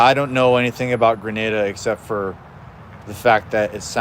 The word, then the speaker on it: Grenada: Grenada? Okay. Yeah, I don't know anything about Grenada except for the fact that it sounds like the word grenade.